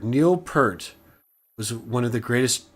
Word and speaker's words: Peart: Pronounce it Pert. Neil Peart was one of the greatest drummers that ever lived.